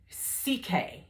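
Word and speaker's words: Csikai: His name is Dr. CK, and it sounds like letter C, letter K, and it's spelled it's spelled C, S as in Sam, I, K-A-I.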